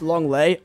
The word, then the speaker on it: Lenglet: It's pronounced Longley.